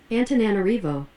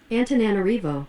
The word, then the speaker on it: Antananarivo: 안타나나나 이렇게 된 것 같은데, 이것의 발음을 좀 보자면 Antananarivo. 리버 리의 액센트가 있네. 안타나나리보. 다시 한번 들어보면 Antananarivo. 안타나나리보 리의 액센트가 있습니다.